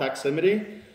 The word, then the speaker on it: Doximity: of but into the medical field it's called doximity pronouncing it right car look at that shocked I